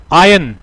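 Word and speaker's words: iron: हो जाता है जंगल आयन आर साइलेंट है इसके अंदर इससे क्या-क्या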